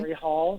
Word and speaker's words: Katori Hall: So it's a 2010 Olivier Award-Winning play by, is it Katori Hall? Am I pronouncing that correctly? Katori Hall.